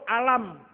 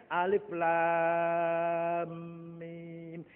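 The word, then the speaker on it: الم: Coba kalau nggak ada ilmu tajwid, alif lam mim kulo dewe saya alif lam mim tak woco alam. Salah Mas, bacanya alif lam mim.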